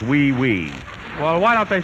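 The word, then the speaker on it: oui: franois ooy ooe Miss wait a minute that's pronounced we we well why don't they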